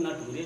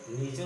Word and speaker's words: nature: और ये बेटा तुमने नेचर को नटूरे पढ़ा है?